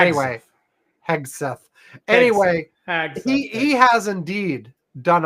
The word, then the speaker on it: Hegseth: Hagseth. Anyway, Hegseth.